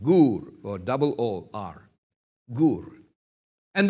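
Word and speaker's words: גּוּר: Now, interestingly, the Hebrew word translated abide is gur, pronounced gur. J-U-R, a long U sound, gur, or double O-R, gur.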